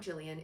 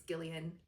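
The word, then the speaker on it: Gillian: I went to a book night where she was last week and now we know it's not Jillian, it's Gileian.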